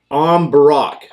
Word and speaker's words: Am Bùrach: going to be like first of all it's not even going to be the am it's going to that's going to sound like em yeah so it's the